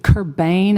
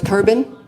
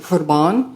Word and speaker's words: Kerbin: Is it Kerbane, and I'm saying it wrong? No, but it'd be nice to be his sister because I think he was pretty rich. I don't know. I didn't listen to a lot of his music, but my son always did and heard he was a great guy. No, it's Kerbin. Okay, I think if you were in Lebanon, you might pronounce it Kurban.